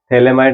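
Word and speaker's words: phthalimide: एक थैलेमाइड नाम का कंपाउंड है, इसमें पी साइलेंट है।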